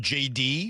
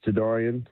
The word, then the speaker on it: Jadarian: Yes, it's Jidorian. Um my closest ones to me call me JD, but yeah, it's Jidorian.